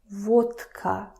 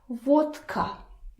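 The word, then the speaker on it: водка: Now listen to me pronouncing this word vodka. Va vka. I'm not saying va vka because it's difficult.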